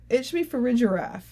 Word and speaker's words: Farigiraf: But it should be Farigiraf. You're right. Farigiraf. I'm trying to actually look at it and read it closely now. Use my skills. Farigiraf.